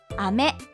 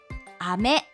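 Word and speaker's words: 飴: 発音は雨。雨、雨。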